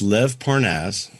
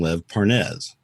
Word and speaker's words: Lev Parnas: Well, it's Lev Parnass. Okay. Now, we found out, here's the fun part. We found out that Lev Parnass's name is pronounced that way. Okay. Everybody had been calling him Lev Pernes, okay?